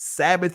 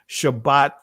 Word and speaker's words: Shabbat: world of a difference sabbath is a greek pronunciation shabbat is the actual pronunciation but notice what it